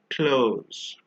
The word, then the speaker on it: clothes: clothed the fourth one is actually pronounced cloes for example the T and the H are often not pronounced individually so we don't say